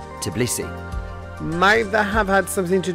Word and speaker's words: Tbilisi: 1500 years for centuries the city was known as tiffles its Persian pronunciation until 1936 when the Soviet leadership officially reverted its name back to the Georgian version Tbilisi neither have had something